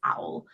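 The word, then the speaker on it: Auel: the research that um I can never pronounce her last names like owl or something it's not spelled like owl the bird it's owl um all the research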